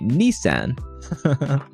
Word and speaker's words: Nissan: Sorry, I'll pronounce Nissan the American way. Nissan.